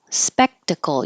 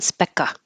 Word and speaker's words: spectacle: so entreat hold it spectacle spectacle you're holding the K so it's not Specta spectacle disrepute and now you